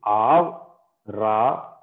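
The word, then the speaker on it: אַבְרָהָם: So you see, Avraham. Here, see, the first syllable is Av. The second syllable is Ra-ham.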